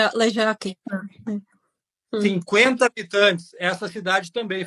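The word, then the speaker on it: Ležáky: Só falar com som de J, é só falar o Z ali com som de J. É Lechak, não é? Enfim, Lejac.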